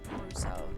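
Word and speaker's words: ブルース: Reminds me how in Mega Man, Proto Man was called Bruce in the Japanese version, but in the Japanese they pronounce it Bruso.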